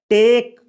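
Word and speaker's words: talk: इसमें एल का उच्चारण नहीं किया जाता है, इसको बोला जाता है टॉक।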